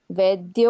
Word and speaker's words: वैद्य: उच्चारण कैसे? वैद्य वैद्य सदा योगी या ए वाला चव वाला ए और ऐसे दो मात्रा है अलग-अलग तो ऐ की मात्रा जब आती है तो उच्चारण क्लियर होना है हम क्योंकि कंफ्यूज नहीं होना वे और व में वैद्य वैद्य वैद्य तो